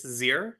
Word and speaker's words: zir: Yeah, so I would pronounce this zir.